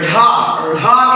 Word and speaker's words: ढ़ा: इसका उच्चारण होता है, देखिए पहले वाले का उच्चारण हम करेंगे जब ढक्कन वाला तो ढा कहेंगे, और दूसरे का उच्चारण जब मित्रों करेंगे तो इसको हम ढा करेंगे। क्या कहेंगे? ढ़ा कहेंगे। ये हमारा हो गया रा और ये दूसरा वाला हो गया ढ़ा।